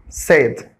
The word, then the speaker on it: said: طيب تعال نشوف بعض الكلمات اللي ممكن الناس تتلخبط فيها وتنطق الصوت ده بدل ما هو أه تنطقه آي long آي زي said said it's not said said no it's a